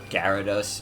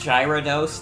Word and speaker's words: Gyarados: Norman probably will you've never heard Gyarados pronounce like that but you can respect it oh that's the name I gave it yeah no it's gyrados the Gyarados how the [ __